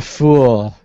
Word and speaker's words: Phule: It's the Fool. So the Phule is how it's spelled.